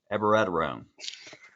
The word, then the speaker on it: abiraterone: And 2 weeks ago, I started, can't even say it right, abiraterone.